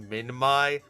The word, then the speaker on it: Minmi: Okay, so this genus name is actually pronounced Minmai, but I say Minmi because it sounds cuter and fits this little goober so much better.